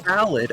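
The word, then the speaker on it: Ballade: no no no no ballad as in a music ballad yes I'm aware tell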